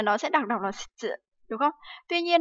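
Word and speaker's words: 失: Né, shitsu, đúng không? Vậy thì cái từ này thì chắc chắn là nó sẽ đọc đọc là shitsu, đúng không?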